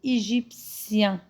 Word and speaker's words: égyptien: Un homme, il est égyptien. T-I-E-N, on le prononce sien. C'est pas chien, c'est l'anglais, non, sien.